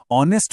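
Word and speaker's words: honest: ऑनेस्ट में H silent है और आवाज ओ की है जो एक वोवेल साउंड है।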